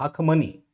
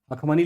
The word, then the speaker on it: अखमनी: इसलिए देखते हैं जैसे हम कहते हैं हकमनी। अखमनी लिखे हैं। कहीं-कहीं लिखा रहता है अखमनी। ह शब्द तो हम लोग डाल देते हैं जो इंग्लिश का उच्चारण है एच से शुरू होता है। लेकिन फारसी भाषा में उस समय जो फारसी भाषा थी उसमें एच शब्द का प्रयोग नहीं था। ह शब्द का प्रयोग नहीं होता था।